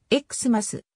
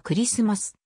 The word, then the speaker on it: Xmas: られる表記であるこれを x ます ksms と発音する場合もあるがクリスマスやそのバリエーションであるエクステますは本来はクリスマス krs ms という典型的な発音を綴ったものである x は